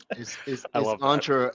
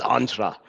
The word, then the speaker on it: Entra: Sentra and I go this is how you pronounce it entra as in as in Commandos and I have a picture of Predator with on SW and saying this entra yeah a good commercial yeah there you go